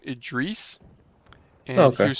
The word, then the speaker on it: Idris: His name was, who's the Idris Elba? You know, my Oh yeah. crappy aim there. Oh my gosh, I should have done better. But he pronounces his name Idris, Oh, and he okay.